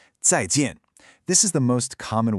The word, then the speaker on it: 再见: That's pronounced 再见. See how both of those tones fall pretty sharply? 再见.